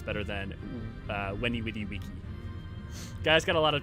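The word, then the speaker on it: veni, vidi, vici: My favorite thing about taking Latin in university was learning it's actually pronounced Weni Widi Wiki.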